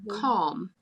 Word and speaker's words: calm: Like if you say like calm, I was like, oh yeah, where is the L in that?